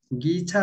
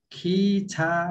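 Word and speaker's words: 기차: खिच्छ भाइ सर हामीले अहिले उच्चारण गर्दा यो ग हो इकार दियो गि अनि छ हो आकार दियो छा गि छा हुन्छ तर एउटा नियम छ कोरियन भाषाको उच्चारणमा हामी उच्चारणको नियममा पछि पढ्छौँ यसलाई चाहिँ हामीले खि छा भनेर पढ्नुपर्छ है अहिले चाहिँ यति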